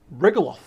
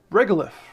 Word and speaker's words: regolith: say that we need to look to the regoloth how do we pronounce this one quickly pronounce that one for us regolith that was close enough so basically rock and